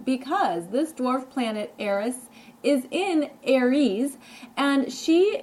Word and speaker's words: Eris: is spelled e.r.s and I know it sounds like Aries so I just wanted to differentiate between the two because this dwarf planet Eris is in Aries and